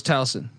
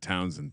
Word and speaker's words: Towson: Hate that Townsend pick. Well, all right. I threw an N in there.